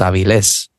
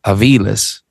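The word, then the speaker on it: Avilés: My name is supposed to have an accent at the end. It's Aviles. So if not, it would be Aviles, because it ends in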